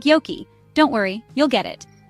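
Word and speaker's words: joki: the Finn J is pronounced like the English y in the word yes so jokey River sounds like Yoki don't worry you'll get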